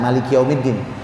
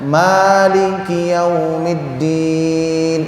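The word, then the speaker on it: مالك يوم الدين: Ini ada 2 cara baca Maliki Yaumiddin. Ada yang pakai alif mad ya, Maliki Yaumiddin. Ini yang umum. Ada juga yang Maliki Yaumiddin. Dua-duanya benar. Jadi yang Maliki Yaumiddin panjang, Maliki Yaumiddin pendek.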